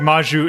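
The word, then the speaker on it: Magyu: Yeah, it's like Maju. It's spelled really weird.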